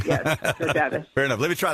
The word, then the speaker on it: Georgatos: Georgatos is right, and you're in a small league. You can pronounce it correctly. Yes, Georgatos. Fair enough. Let me try that again. Georgatos is with us from from America Can We Talk.